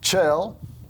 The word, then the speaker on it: Kjell: name yes it is I mean you spell it k j e l two L's two L's how do you get out nobody could get chill out of that I think that that's